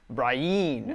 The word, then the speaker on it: Brienne: The pronunciation of Brienne is Brienne.